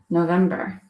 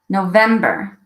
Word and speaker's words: November: This month is November. November. November. There's the emphasis. November. Longer, November. Higher, November. Louder, November.